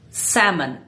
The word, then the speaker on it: salmon: The L is silent. It's salmon.